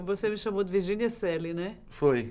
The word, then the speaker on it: Coeli: Que em latim é a expressão Celli, com essa pronúncia.